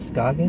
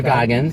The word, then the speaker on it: Goggins: Scoggins. Oh, Walter Goggins.